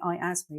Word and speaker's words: IASME: national cyber security Center website or alternatively the I asthma that's spelled iasme website Who administered the Cyber essential